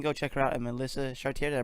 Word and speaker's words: Melissa Chartier: You can go check her out at Melissa Chartier. Did I pronounce it right?